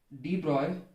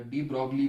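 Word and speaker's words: de Broglie: exam में पूछते हैं, बोलते हैं भैया डी ब्रॉय, या डी ब्रॉगली बोलते हैं बच्चे, नाम प्रोनाउंस डी ब्रॉय है, इसका याद कीजिएगा, डी ब्रॉय वेवलेंथ, डी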